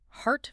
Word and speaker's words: heart: The vowel sound is tense. It is the sound a doctor asks you to make when they look at your throat. See? Precisely. To produce this sound correctly, your jaw must drop dramatically.